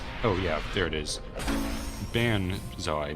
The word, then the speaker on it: banzai: Banzai, not bonsai, which is, you know, a term used by...